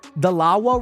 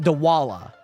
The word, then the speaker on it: Dalawa: Oh, to be fair, I said the Dalawa wrong. I said the W and the L flipped. So I said it Dawala.